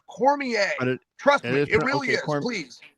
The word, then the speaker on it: Cormier: it there's no a in it but it's pronounced Cormier trust me it really is and you went